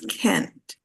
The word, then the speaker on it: can't: But in this one, which is negative, the pronunciation is can't. K-A-A-A. The vowel sound is e, not a.